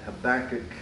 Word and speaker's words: Habakkuk: You almost have to clear your throat before you pronounce that. Habakkuk 3, 17 and 18.